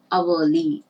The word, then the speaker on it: hourly: say the first one this h is silent and it is pronounced as a hourly it's a vowel sound